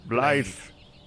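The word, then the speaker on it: Blaidd: They're yeah, because two D's means T-H. Yeah, that makes sense. Blythe.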